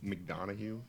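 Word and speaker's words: McDonagh: McDonough? No. McDonald's. It's like McDonough. It's almost like it's McDonald's.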